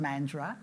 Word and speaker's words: Mandurah: It's actually pronounced Mandurah.